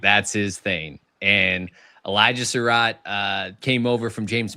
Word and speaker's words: Sarrett: So, so Elijah Surat is how he pronounced his last name.